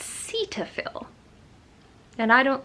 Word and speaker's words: Cetaphil: I use, and I've always pronounced it Cetaphil, but apparently it's Cetaphil, and I don't like that.